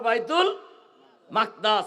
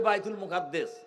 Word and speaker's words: বাইতুল মাকদাস: বাইতুল মাকদাস, আরবি উচ্চারণ হলো বাইতুল মাকদাস, আর আমরা বাংলায় বলি বাইতুল মুকাদ্দেস।